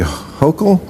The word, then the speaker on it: Hochul: What do you New Yorkers think of how Mayor Eric Adams and Governor Kathy Hochul? Yes, you pronounced it right.